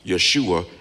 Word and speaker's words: Yeshua: Jesus is how you pronounce his name in English. Yeshua is how you pronounce his name in Hebrew.